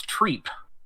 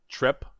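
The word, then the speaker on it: Trepe: be pronounced trip but according to the lore it's treat and I don't like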